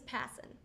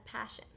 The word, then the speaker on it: Passen: My last name is Passen, which is often misspelled and mispronounced as passion, but that's okay because it accurately describes how I live.